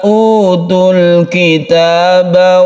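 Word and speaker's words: أُوتُوا الْكِتَابَ: Wa kullil ladzina utul kitaba wal ummiyin. Utul kitab, baunya ini kita baca panjang karena ada sukun waw, ini kita sebut dengan mad tabi'i.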